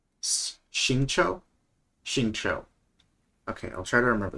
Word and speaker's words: Xingqiu: I always pronounce his name wrong. Xingqiu? Xingqiu.